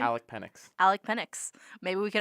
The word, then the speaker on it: Penix: Alec Penix.